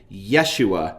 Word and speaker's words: Yeshua: The Greek name Jesus, which when a similar name is used in the Old Testament, is usually Latinized as Joshua or Jeshua in English translations of the Old Testament, is actually Yeshua in Hebrew.